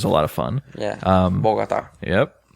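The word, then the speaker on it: Bogotá: Bogota. Yep. Bogota got the little accent on the A.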